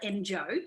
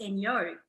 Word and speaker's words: Enjo: So a lot of people do call it Enjo because that's how you would spell it out, Enjo, but it's actually pronounced Enjo because it's an Austrian product.